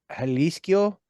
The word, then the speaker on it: Jalisco: and El Rayo de Jalisco. It's JAL, but I think it's pronounced with an H.